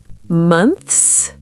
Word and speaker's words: months: Months. Two syllables? Try to say it as one syllable. Months. The TH is followed by an S. It's hard, but practice.